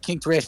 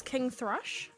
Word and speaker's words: King Thrush: That's what King Thrash told me. So it's got to be true. But So the issue is his name wrong. His name is King Thrush.